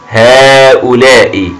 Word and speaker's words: هؤلاء: لدينا هنا ألف أيها الأبطال لكنه ينطق فقط ولا يكتب، لكن إذا كتبت الألف هنا تصبح الكلمة خاطئة إملائيا وخاطئة بالنسبة للكتابة أيها البطل، لكن عند القراءة نقول أيها الأبطال هؤلاء، لكننا لا نكتب الألف بعد الهاء.